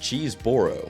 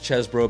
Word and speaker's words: Chesbro: His last name at birth was spelled like this and pronounced Cheeseboro, but he would become known as Chesbro because he would write his name that way, although he never legally changed it.